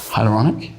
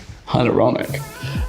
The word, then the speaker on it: hyaluronic: me about six months to learn how to pronounce it and now i've got it i just keep saying it to everyone hyaluronic ironic hyaluronic so i'd say that first followed by my